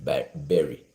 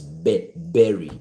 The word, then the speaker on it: bury: And through their wisdom they said the kabaka should not bury bury b u r y. The pronunciation is berry not bur.